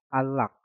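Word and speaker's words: 안락: Un berakhiran nien dan lock berakhiran real. Maka nien yang ada di kata an kita rubah menjadi real. Maka cara pengucapannya menjadi unlock.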